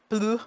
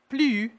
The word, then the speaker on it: plus: fun French U sound, the P and the L, just like they are, plu, and then U, the S is silent, plu.